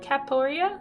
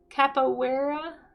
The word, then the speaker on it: Capoeira: Capoeira?